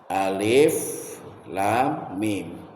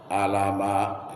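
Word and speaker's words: الم: Alif lam mim. Kalau secara ilmu tajwid, cara membacanya itu lamnya enam harakat, tiga alif. Idghamnya am itu satu alif, dua gerakan. Mimnya sama dengan lam, tiga alif, enam gerakan.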